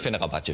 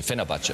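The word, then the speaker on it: Fenerbahçe: Und jetzt ganz neu Lorand bei Fenerbahce. Fenerbahce. Fenerbahce. Nicht Fenerbahce, Fenerbahce. Fenerbahce.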